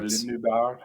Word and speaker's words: Les Noobards: Les Noobards.